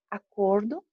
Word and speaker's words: acordo: Acordo é uma combinação e acordo do verbo acordar.